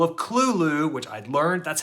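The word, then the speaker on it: Cthulhu: with I just listened to the call of Kulu which I learned that's how it is actually pronounced not cthulu I told this to my girlfriend and she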